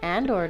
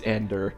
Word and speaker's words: Ander: I mean, Andor did it. He has shorter legs than I do. It's Ander, but yes. Ander did it.